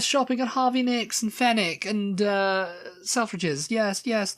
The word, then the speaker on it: Fenwick: one for Posh people Fenwick or fenic fenick fenick yeah yeah it's spelled Fenwick yeah I don't know this